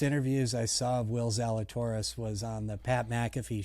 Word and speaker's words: Zalatoris: i saw of will zalatoris was on the pat mcafee show and um he i think pat butchered his name and said like zlatarus or something like that and and will went